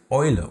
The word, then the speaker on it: Eule: E plus U turns into Oi and gives us words like Eule or Deutsch.